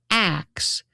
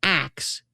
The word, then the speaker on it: ask: So when people mock axe as ignorant, they are often unknowingly mocking a pronunciation that predates modern standardized English. And it goes even more interesting. The kind of sound switching is called metathesis.